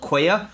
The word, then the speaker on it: Qwaya: Another one's called Quaya. So that's spelled Qwaya. Quaya.